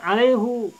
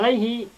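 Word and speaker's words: عليه: Makanya ulama qiraat yang ini bacanya alaihu.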